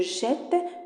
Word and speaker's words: jette: يعني مع نو مع فو كنخليو ان سول تي، وكنحصلوا على جو جيت تو جيت. كيفاش كتنطق جيت؟ جو جيت تو جيت il elle jette nous jetons ماشي nous jetons nous jetons vous jetez il elle jette.